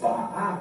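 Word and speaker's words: Baal: Okay, this don't say bio or bio, it's ba'a, because the ayin make more of a ah sound.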